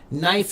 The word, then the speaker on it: knife: And it's kind of funny because we pronounce it knife, but actually the original pronunciation, they did pronounce the K. It would be knife or conifer was the way they would pronounce it a long time ago, conifer.